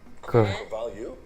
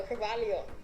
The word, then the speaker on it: Cravalho: Cravalho? No, Cravalho.